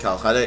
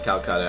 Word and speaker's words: Kolkata: And I just realized I've been saying it wrong previously and calling it Kolkata. It's Kolkata. I know.